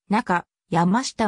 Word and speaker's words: 中山下: センターとなったなお中山したは中山下と読むが県外者にとっては難読地名の一つでありなかやましたまたは中山氏